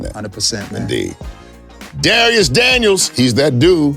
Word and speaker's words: Dharius: only name i know it's spelled this way d-h-a-r-i-u-s so it's darius on everything that's youtube